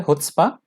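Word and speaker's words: chutzpah: अगला हमारा शब्द है हुत्स्पा। सी से प्रोनाउंस नहीं करना इसको, प्रोनाउंसिएशन जो होगा वो हुत्स्पा से होगा, एच से होगा।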